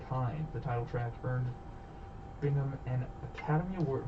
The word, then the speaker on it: Bingham: The title track earned Bingham an Academy Award. Am I saying it? Yeah. I was worried that was singing saying his name wrong, like it was Bringham or something.